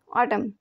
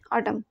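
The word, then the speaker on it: autumn: में टम कहते हैं ऑटम इसमें एन है ये साइलेंट हो जाएगा ऑटम हल्की हल्की हवा हल्की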